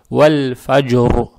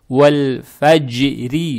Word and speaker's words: والفجر: Потому что когда РО с сукуном, перед ней тоже с сукуном, а перед ней фатха, РО читается твердо. Вальфаджр.